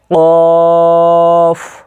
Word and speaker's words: কাফ: ফা, ফা, ফা, এখানে দেখেন স্টার চিহ্ন রয়েছে, ওয়াকার উচ্চারণ করবেন এবং 3 রয়েছে, 3 আলিফ পরিমাণ কী করবেন টানবেন দিকে। কফ, কফ, কফ, এখানে 3 রয়েছে, 3 আলিফ পরিমাণ টানবেন।